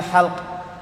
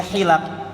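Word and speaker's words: حِلَق: Dia bacanya naha 'anil halq, larangan cukur rambut sebelum salat Jumat. Bayangkan, ya, satu harokat saja 40 tahun tersesat. Baru ketemu Imam Khattabi 40 tahun selanjutnya dijelaskan oleh beliau. Faqultu lahu, maka aku berkata kepadanya, ya syekh, wahai syekh, innama huwal hilaq jam'u halaqah. Itu bacanya hilaq, jamak dari kata halaqah.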